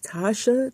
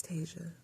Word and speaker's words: Tasia: Because they be like, Tasha, Taji, it's Tasia. It's Tasia, babes.